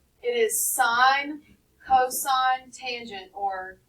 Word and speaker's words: sine: of the whole word no it is not the word sin it is not the word sin it's a long I please don't call it sin because then that tells